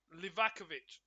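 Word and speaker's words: Livaković: for Croatian free kick Villa livakovich is how you say his name I'll be honest with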